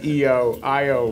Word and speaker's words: Io: how many IO ok I'm sorry actually since I always say io io is the correct pronunciation I learned them so anyway what's exciting